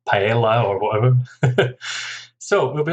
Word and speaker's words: paella: From Spanish, paella as well.